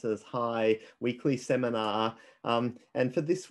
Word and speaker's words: HAI: Welcome to this week's HAI, that's the Stanford Institute for Human-Centered Artificial Intelligence, we commonly pronounce it as HAI, weekly seminar.